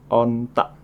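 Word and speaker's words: 얹다: Berikutnya ada onta yang mempunyai arti menaruh ke atas. Jnya juga diapaikan onta.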